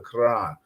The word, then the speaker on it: Quran: because I need you to talk about the Quran. Correct? Did I say it right? Quran, yes.